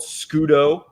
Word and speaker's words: scudo: them put it out there yeah it's called scudo uh how do you spell that italian for coin s-c-u-d-o pardon yeah they're